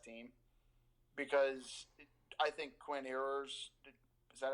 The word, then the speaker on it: Ewers: Because I think Quinn Ewers, is that how you say his name? Ewers, yeah.